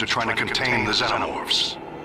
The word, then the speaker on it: xenomorph: It's pronounced xenomorph. Stop pronouncing it wrong.